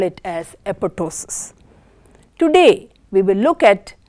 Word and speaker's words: apoptosis: How do you pronounce the word apoptosis? As I said, it is apoptosis. It is not apoptosis.